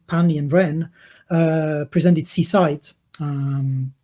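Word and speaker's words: CSIDH: and ren uh presented seaside um so be careful s-i-d-h you just pronounce s-i-d-h but when you add the c become c-side just because reasons um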